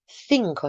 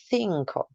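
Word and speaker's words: cinco: is this letter here the CI combination in Spanish makes a thinko sound thinko you should be sticking your tongue out between your teeth try it thinko now for our English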